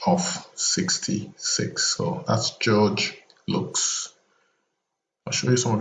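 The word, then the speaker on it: Luks: His name is George Lux, not George Lucas, the movie maker. He's an artist. His last name is spelled L-U-K-S.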